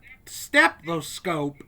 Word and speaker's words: stethoscope: I have a weird habit of mispronouncing that word, pronouncing like the first T as a K sound.